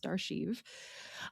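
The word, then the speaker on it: D'Archive: He's the host of Darchive, which I just learned how to pronounce. It is d apostrophe archive, pronounced Darchive.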